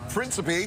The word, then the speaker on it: Principe: Joining us this morning is from Prince William County, Frank Principe. Did I pronounce it right?